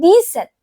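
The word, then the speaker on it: dix-sept: And 17 is pronounced d set.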